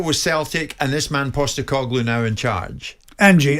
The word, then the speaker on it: Postecoglou: Are you comfortable with Celtic and this man Postecoglou now in charge? Angie, how do you pronounce it?